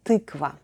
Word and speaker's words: тыква: The stress is still on ты, so altogether we get tykva.